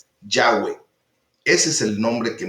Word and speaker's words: Yahweh: Y se han hecho estudios ya más profundos de cómo sería la fonética, de cómo los hebreos pronunciarían propiamente esas 4 letras, y se ha llegado a la conclusión de que es Yahweh.